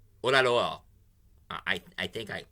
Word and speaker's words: Oyelowo: David Oyelowo. Oyelowo. I think I pronounced it right. Oyelowo.